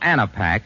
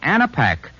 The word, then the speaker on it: Anapac: Rexall Anapac relieves a cold at any stage, from the first warning sneeze to the headache, muscular pains, and fever of a full-fledged cold.